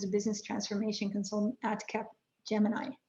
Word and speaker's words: Capgemini: And in his past, he was a business transformation consultant at Capgemini. Capgemini, am I saying it correctly?